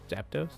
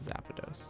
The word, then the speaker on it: Zapdos: zappados what's happened zap zapdos i know a lot of people pronounce that zappados anyway boom i think